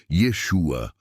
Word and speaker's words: Yeshua: verdadeiro profeta Jesus ou na pronúncia Hebraica Yeshua ou yaa e não